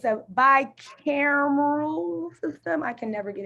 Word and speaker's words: bicameral: It's a bicameral system. I can never get it right. That's the right way to say it, bicameral system.